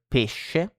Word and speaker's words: pesce: So when SC, sh, is followed by E or I, E or E, you say it like SH in English. So she, for example, no?